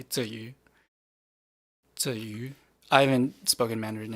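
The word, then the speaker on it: Tzuyu: explaining this but that's that's the Taiwanese pronunciation of her name so I don't actually because a lot of people pronounce it like chewy which I actually think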